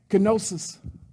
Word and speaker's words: kenosis: Can we say kenosis? Kenosis. Say it like you're getting ready to sneeze.